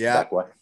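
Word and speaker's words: Växjö: It's like spelled like Vax Joe, but I think it's pronounced Vakwa.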